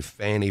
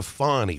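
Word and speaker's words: Fani: for you to say Fannie Willis, because it's spelled F-A-N-N-I, and I don't get a Fonny from that. And they keep calling her Fonny Willis.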